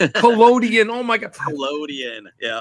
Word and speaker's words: collodion: So first, it's pronounced collodion. Collodion.